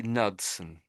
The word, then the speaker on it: Knudson: I'd say Nudson. Nud. So I'm I'm saying the K is is um is silent.